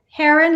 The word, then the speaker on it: Herron: how to pronounce Heron Heron like the bird except a double are okay okay now I